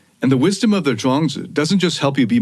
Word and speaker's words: Zhuangzi: And the wisdom of the Zhuangzi doesn't just help you be more successful.